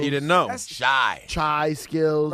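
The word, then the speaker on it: Chyskillz: The producer of the first album, how the fuck do you pronounce his name? Shaw Skills. Thank you. Shy skills.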